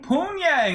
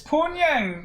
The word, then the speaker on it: Pyongyang: Pyongyang, that's what I call it. I can see someone pronouncing it like that. It's Pyongyang.